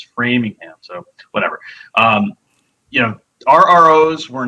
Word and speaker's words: Framingham: Although I did catch Pat mispronouncing Framingham. It's not Framingham. It's Framingham.